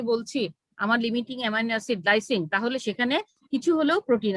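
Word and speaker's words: lysine: Clearly বলতে হবে লাইসিন। লিউসিন হলে আরেক জিনিস হয়ে যাবে, লায়াসিন হলে হ্যাঁ অন্য কিছু হয়ে যাবে, ঠিক আছে।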